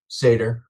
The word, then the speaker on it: Satter: And sir, do you pronounce it Satter or Sater? Sater.